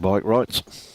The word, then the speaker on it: Breitkreutz: Greg Breitkreutz. That's what John Ferriday told me to pronounce it as.